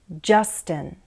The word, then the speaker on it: Justin: So we say Justin, Tristan, Hunter, Octavia.